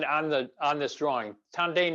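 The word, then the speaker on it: tanden: the on this drawing tandain is the japanese pronunciation of the chinese word dantien which is the the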